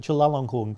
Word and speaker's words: Chulalongkorn: I know how to pronounce it, Chulalongkorn, King Chulalongkorn.